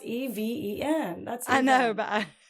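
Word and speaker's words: Evyn: It's spelled E-V-Y-N, and then she says, pronounce Even. Even.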